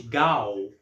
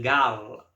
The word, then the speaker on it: Gal: Gal se transformasse em Gala, com L no final. Quando você pronuncia o nome, a sonoridade é a mesma, Gal.